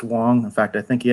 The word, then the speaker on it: Wang: It's pronounced Wang. In fact, I think he actually gets angry if you call him Wang.